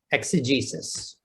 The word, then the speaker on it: exegesis: x e and how do you say it exegesis all right i'm gonna tell you a problem